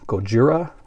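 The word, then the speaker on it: ゴジラ: is a Godzilla or as they pronounce it over in Japan Gojira this is a 1954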